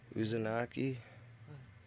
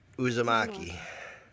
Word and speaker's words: Uzumaki: um yeah she's it was the heidi said uzunaki how do you say the title of the book yeah i think i don't know uzunaki but yeah and she got here i'll let her show you yeah uzumaki yeah and oh that's one of our it's